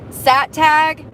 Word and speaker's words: SATG: It's pronounced the SATAG gang, South American Theft Group.